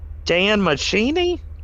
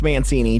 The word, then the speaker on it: Mancini: Is it Dan Machini? Who the soundtrack? No. He's the creator of Chucky. Oh, duh. Mancini? Yeah, it's Mancini. Don Mancini.